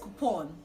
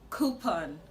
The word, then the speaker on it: coupon: Now, this word is commonly pronounced coupon, but the right to pronounce this word is coupon, coupon, coupon.